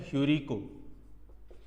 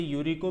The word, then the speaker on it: ह्यूरिको: और वो शब्द है ह्यूरिको। जहां आपका है वो साइलेंट रहेगा तो इसे यूरिको भी कह सकते हो आप।